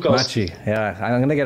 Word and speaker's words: Maciek: say your name again Machi I can't it's Machi Machi yeah I'm going to get AR Ray one